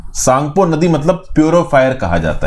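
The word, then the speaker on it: Tsangpo: इसका नाम क्या है सांगपो सांग पो जिसमें टी साइलेंट है तो आप सॉन्ग वो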